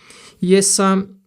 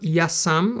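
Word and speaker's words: ja sam: Yesam. It's not yesam but yasam.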